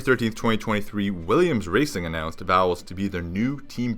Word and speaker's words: Vowles: team principle James vowels vowels spelled like vowels but l-e-s not e-l-s got me so James